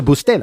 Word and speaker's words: Bustelo: Is the accent on the E? Bustelo? I think so. I think that's correct. Okay. I've never correctly even thought about how to pronounce it, but a lot of times I've said Bustelo. No, I think it would be on the middle. Yeah, it would be on the middle. Bustelo.